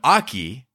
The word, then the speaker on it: Akecheta: and I noticed that the tribe seems to pronounce it Akecheta, and Ford calls him Akecheta. Kohana calls him Aki.